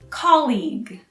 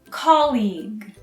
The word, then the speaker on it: colleague: colleague is your co-worker you also stress the first syllable but follow it with a hard g like in leg the last part is silent so it sounds like colleague colleague so one more time